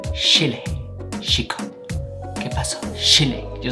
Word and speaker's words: Chile: They don't pronounce it cha like we do in the rest of the world. They pronounce it like an English SH. So they say Chile, chico.